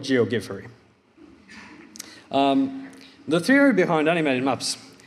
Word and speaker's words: Geogiffery: people quite a lot how to pronounce GOG furry that's how I promise it a finger would pronounce it Jo get ferry also heard a version G of G furry but I'll go with geogi furry the theory behind animated